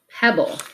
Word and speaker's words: pebble: then the bull right because we don't make the to be sounds it's one sound but when we divide